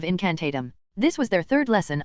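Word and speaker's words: incantatem: Remember, the stress is on the last syllable of incantatum.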